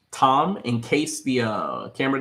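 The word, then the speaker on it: תָּם: see the word that means Perfection so it's pronounced Tom in case the uh camera doesn't pick up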